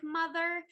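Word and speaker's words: MUTHUR: something that just like if you pronounce it phonetically sounds like mother um I like that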